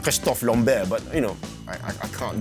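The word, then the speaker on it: Christophe Lambert: a MacLeod played by Christopher Lambert well he's French so it should be pronounced Christoph long bare but you know I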